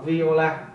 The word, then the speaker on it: viola: người ta đọc là viola. tiếng Anh đọc là viola, thì cái này các bạn thấy giống nhau nè, nhưng người ta đọc khác nhau, violin nhưng mà là viola.